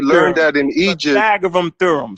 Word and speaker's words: Pythagorean: Pythagorean theorem.